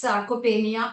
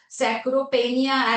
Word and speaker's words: sarcopenia: Even many learned people would come and ask me what is sacchopenia and they would pronounce it as sacropenia as in p a i n i a.